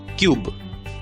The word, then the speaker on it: cube: तो सी की आवाज क, यू का नाम यू, बी की आवाज ब। शब्द का उच्चारण होगा क्यूब, क्यूब।